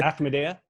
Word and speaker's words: Ahmadiyya: You know, Ahmadiyya. Ahmadiyya.